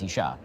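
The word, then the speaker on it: אישה: It's the same spelling, you just add a hey at the end, and now it's Isha, right?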